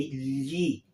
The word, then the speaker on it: gli: You don't have to say I, but you have to say gli, gli, gli acquedotti, gli amici, okay?